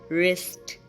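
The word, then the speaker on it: wrist: work week wipe एक् W silent कहां पर होता है जब डब्लू के बाद आर आ रहा हो तब डब्लू साइलेंट हो जाता है जैसे कि रंग रिस्ट रप एंड राइट बाकी के वर्ड्स में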